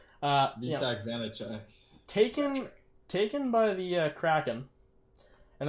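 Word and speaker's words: Vaněček: Yeah, and I mean, the other thing, I know, the other thing I'll say about Vitek Vanek, I think that's how you pronounce that guy's name. Vitek Vanacek.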